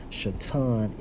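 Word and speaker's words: שטן: meaning the spiritual being Satan pronounced as shatan in the Hebrew meaning adversary Kanye is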